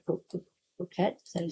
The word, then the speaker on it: croquette: Cro- Croquette, is that what you say? Croquette.